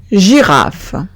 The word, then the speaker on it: girafe: I, o bien Y, se pronunciaría J. Exemple, girafe.